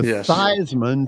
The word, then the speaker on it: Theismann: it to Theismann to rhyme with Heisman.